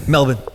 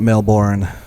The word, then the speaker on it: Melbourne: She said it the right way as well. Melbourne. It's not Melbourne.